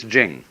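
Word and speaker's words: 經: it's pronounced de, and Jing, there is no apostrophe after the CH, so if there were it would be pronounced Ching, but it's Jing, like a J.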